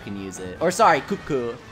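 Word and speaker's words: Kut-Ku: Or sorry, Kutku is how it's pronounced. The T is silent.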